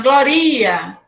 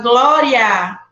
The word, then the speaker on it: glória: A gente fala glória. É o A que a gente vai pronunciar mais forte.